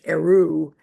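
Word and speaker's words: Héroux: Paul Heru Herox pronounced in French Eru um H E R O U X has done a brilliant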